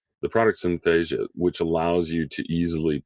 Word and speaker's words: Synthesia: to call it um Synthesia the product syth Asia which allows you to easily put together a video-based um module um or Synthesia I think is what it's how it's pronounced but the uh it